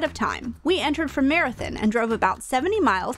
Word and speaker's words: Marathon: There are two main entrances into the park, from Marathon, and yes, that is how it's pronounced, and from Terlingua.